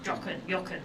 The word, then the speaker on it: Jochen: Now this is a Jochen in the German language would be pronounced. Jochen.